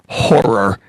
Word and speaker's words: horror: You are a horror actress. Yes. You like the way I pronounced that? Horror, yes. Yes, I hit the last R. You have to really add that in there. Yeah.